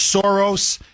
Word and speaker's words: Soros: Starting with archeneemy number one, George Soros as he's pronounced in Hungarian, George Soros, his son Alex, and